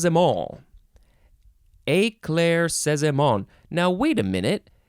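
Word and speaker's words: éclaircissement: now wait a minute there is not a single syllable that says it is emphasized so you're supposed to say every single one of these syllables the same way eclair says them all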